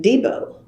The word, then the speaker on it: Debo: And Guy Logston, who knew her so well, would pronounce it Debo. And I thought, oh, that is such a country way of saying it, Guy. He's from Okema. What did he know? I think he's OSU grad. What did he know? Then I found out years later that was the preferred pronunciation, but she never corrected me.